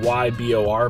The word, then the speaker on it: Ybor: It is in the, what they call, ybor area of Tampa, Florida. It looks like Y. It's spelled like Y-B-O-R, but it's ybor.